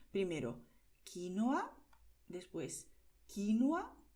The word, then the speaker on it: quinoa: La manera más correcta sería quinoa. También se puede decir quinoa. Pero es muy común escuchar también quinoa. Puedes decirlo de esas tres maneras diferentes. Primero, quinoa, después quinoa y por último, quinoa.